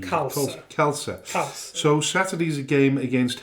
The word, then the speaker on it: Khalsa: Sporting Is that Khalsa. the pronunciation? Khalsa.